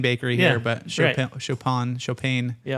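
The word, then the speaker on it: Chaupain: Chop Bakery.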